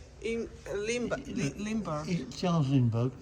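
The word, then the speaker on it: Lindbergh: how do you say in Li lber Char Lindberg Lindberg not no yeah became famous overnight when he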